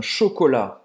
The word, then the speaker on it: chocolat: e me dê um chocolate. Então presta atenção aqui, tá? Não é un chocolate. É o quê? Un chocolat. Você não vai pronunciar o T.